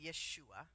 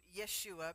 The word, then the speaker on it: Yeshua: need to know that the two syllables Jesus are westernization of his actual name which was Yeshua so Yeshua because we had Western